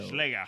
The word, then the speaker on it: Schläger: An A with umlauts in German is pronounced as a long A, as in day. Oh. So Schläger.